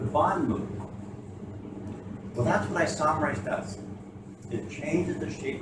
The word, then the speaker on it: isomerase: Isomerase. The accent's on the second syllable, so isomerase.